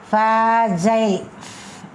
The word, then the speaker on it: fragile: Fragile, this is phonetic symbol. Fragile, G is pronounced as ja.